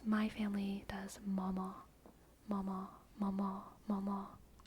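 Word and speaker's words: mamá: family does mama mama mama M the emphasis is on the second one Mama M Mama m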